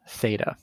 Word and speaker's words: theta: circle with a line through it it's called theta okay so just some notation that angle is pronounced theta and it's like a variable so we can